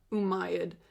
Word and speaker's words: Umayyad: in North Africa at that time the uh umayyad caliphate which is you know just just the